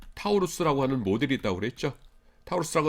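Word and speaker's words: Taurus: 타우루스라고 하는 모델이 있는데 영어로 읽을 때는 토로스라고 읽습니다.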